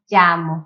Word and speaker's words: llamo: Não vai ser tão yo me llamo, vai ser mais yo me llamo. Tá vendo que é mais aberto? E aí fica menos explosivo, fica mais suave.